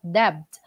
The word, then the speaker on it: debt: all of his debts so that is not debt that is debt silent B Kevin came into some